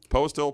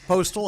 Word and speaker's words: Postel: Postel, Postel. It is Postel.